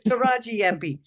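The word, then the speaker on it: Tarraji-Yampi: Finally, the Kimberley, up in the Kimberley, that I can't pronounce it. The Taraji Yampi? Yeah, Taraji. I got close. Taraji Yampi.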